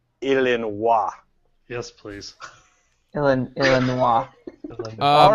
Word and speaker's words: Illinois: have to realize that the word as we pronounce it Illinois is actually French so they prefer you to pronounce it illin yes please ill all